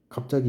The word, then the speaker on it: 갑자기: 그래서 예를 들면 갑자기 이런 거 갑자기는 발음이 당연히 짜로 나죠.